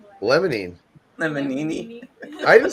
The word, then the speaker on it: limonene: laughed when we heard you say, "Is it lemonini?" Lemonine.